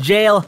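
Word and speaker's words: gaol: I know that j a o l is pronounced jail ha gotcha I'm such a well- read person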